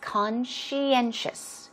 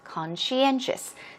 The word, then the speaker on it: conscientious: at the pronunciation it's conscientious conscientious the end stress is a bit stronger than con conscientious and it means